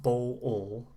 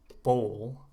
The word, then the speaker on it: bowl: bowl one syllable so not bo all but bowl all all like old okay oh bow bowl